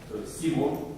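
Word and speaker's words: Simorgh: aux ailes du phénix, que on prononce Simo en persan.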